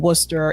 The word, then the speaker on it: Worcester: would like Gloucester and Worcester it's not spelled the way it's pronounced at all these are like those old English names and girls to Belchertown